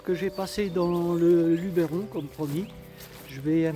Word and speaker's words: Luberon: Alors déjà j'ai appris que on ne disait pas le Luberon mais le Luberon. Voilà. Pas comme je l'ai pu l'écrire avec un accent où j'ai pu le prononcer dans mes vidéos.